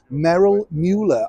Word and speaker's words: Merrill Mueller: And as I say, at the end of the credits, it said, and the American correspondent was Merrill Mueller, I believe is the correct way of pronouncing his name, for NBC.